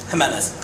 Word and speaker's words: Jimenez: What, how do you pronounce your your Jimenez. So pronounce it like an H, huh?